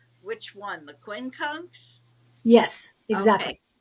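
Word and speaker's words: quincunx: that you brought in how do I what spell it oh spell which one the Quin conks yes exactly Q Q UI n c u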